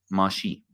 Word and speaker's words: Mashiach: But referring to your question of Mashiach, Messiah, first of all, in ancient Hebrew, we would actually pronounce it as Mashi, because the chet is silent.